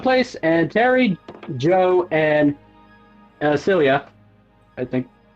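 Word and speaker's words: Sulia: Mai and Andy went to one place, and Terry, Joe, and Celia, I think. It's hard to. I'm trying to remember how to pronounce her name. Celia.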